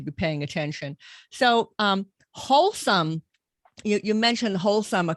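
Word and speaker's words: Holcim: paying attention so um wholesome you you mentioned wholesome a couple of times um is that spell h-o-h-o-l-s-u-m how's that spelled it's spelled h-o-l-c-i-m c-i-m wholesome so that's the name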